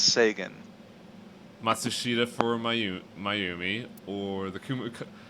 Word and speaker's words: Sagan: Look, it's pronounced Sagan.